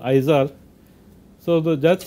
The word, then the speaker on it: Izar: My name is Izar, pronounced Izar, but you can call me if you want.